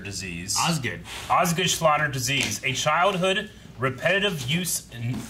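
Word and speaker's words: Osgood-Schlatter: because it's very well taped you mean it's pronounced oz good schlatter disease osgood osgood slaughter disease a childhood repetitive use injury that causes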